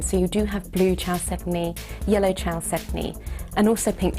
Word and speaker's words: chalcedony: Chalcedony, or chalcedony, depending on how you pronounce it, is best thought of as a species name rather than an individual gem material.